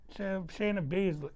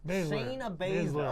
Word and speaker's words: Shayna Baszler: you, she reminds you, was it, how you pronounce her name? Sharon Beasley? Shayna Baszler. Shayna Baszler.